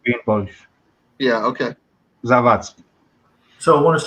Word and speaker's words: Zawadzki: It's spelled the Russian way, but it sounds Polish, but it's not. It's actually Zavatsky, and there's no. If it was Polish, it would be Zabatsky.